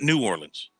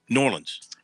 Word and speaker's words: New Orleans: Jones 67305 of New Orleans knows the correct pronunciation of New Orleans not New Orleans New Orleans you got that you pronounce it the way